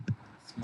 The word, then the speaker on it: smart: चलिए, अक्सर क्या कहते हैं हम लोग इंडियंस कि जो वर्ड्स एस से शुरू होते हैं उनको सा से नहीं बोलते हैं, बल्कि ई से बोलते हैं. कैसे? School, स्मार्ट, student. Do you understand that? तो ये प्रोनाउंसिएशन की एक बहुत बड़ी गलती है. इसको सही करना है कैसे? डायरेक्ट सा से शुरू करना है.